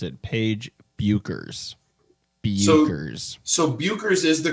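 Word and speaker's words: Bueckers: uh breaking news Google would like us to pronounce it Paige buers buers so buers is the correct pronunciation according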